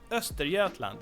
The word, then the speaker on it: Östergötland: landskap again Västergötland and Östergötland and they are kind of okay like in terms of pronunciation. We have that soft G there and so on but